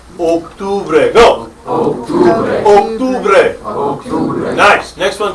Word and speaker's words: octubre: Careful, this is the second most mispronounced month. Oak. Listen, hey, you just fell out of what tree? The oak. That's the way I want you to pronounce that first syllable.